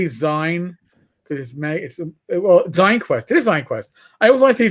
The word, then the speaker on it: ZineQuest: It is ZineQuest. I always want to say Zine because of magazine, and it's a real mental hiccup I can't get past. All right, magazines, ZineQuest.